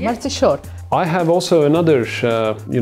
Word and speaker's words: Mărțișor: How you pronounce it correctly? Mărțișor.